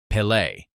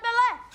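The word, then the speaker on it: Pelé: Deco tries to join the rich boys' conversation and mentions the name of a local footballer, Pele. I'll be like Pele. But he mispronounces it, Pele.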